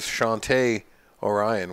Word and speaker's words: Shawnte Orion: your host Andy gervich my guest today is Shante Orion where I just learned uh five minutes ago I've been mispronouncing your name sir for the past 3